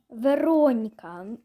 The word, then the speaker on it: Вероніка: Ну, обично я хотіла, я хотіла назвати свою Оску Вероніка іма на наголос на о як Моніка.